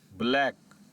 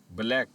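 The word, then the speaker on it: black: ब्लैक ब्लैक अब यहां पर भी सी और के एक साथ आया है तो हम सी की आवाज को प्रोनाउंस नहीं करेंगे। एकनॉलेज एकनॉलेज में भी सी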